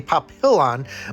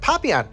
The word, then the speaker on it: Papillon: to say it because I thought it was gonna be pop pill on but Papillon it's actually French for butterfly which makes sense I